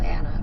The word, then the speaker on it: Anna: Spelled Anna, but rhymes with Lana.